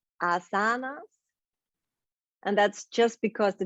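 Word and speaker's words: āsana: in yoga actually or in sanskrit actually it's asana because the first a has that line but that's super super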